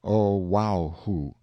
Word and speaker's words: Oahu: him after this island oahu pronounced oh wow the first gate he